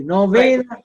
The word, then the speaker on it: Novena: bucks you can get there say novena church pronounce it correctly novaina church right he will take you to the